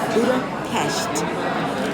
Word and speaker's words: Budapest: Greetings, Success with Etiquette here in Budapest, Hungary, and it's pronounced Budapest.